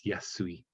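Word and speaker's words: 易い: one of the reading this kanji actually reads yasashi so it's the same character as yasashi but we we pronounce it in this case as yasui not the same as cheap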